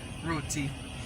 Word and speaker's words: roti: you eat Roti and this is how you pronounce Roti thanks for watching thanks so much for watching